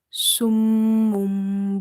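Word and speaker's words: صم: So here is the word summum, bukmun. So when you see after tanween or noon sakin the letter ba, it will be iklab. Iklab means changing. You will change the sound of noon sakin or tanween into mim.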